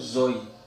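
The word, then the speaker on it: ζωή: agak sulit begini ya basanya itu bacanya apa bacanya itu Zoi ini artinya apa hidup nih Zoi hidup bahasa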